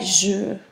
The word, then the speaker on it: jeux: Notice that they're pronounced the exact same way. You do not pronounce the X, you do not pronounce the plural, but you pronounce le and les differently. Okay? Never pronounce the X for plurals.